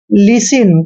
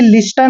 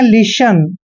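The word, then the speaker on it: listen: है तो यहां पर टी साइलेंट रहेगा यानी कि टी का उच्चारण हमने नहीं करना है इसको पढ़ते हैं हम सीधा ही लिसन कभी भी लिस्टन नहीं पढ़ते हैं इसको पढ़ते हैं लिसन लिसन लिसन मतलब सुनना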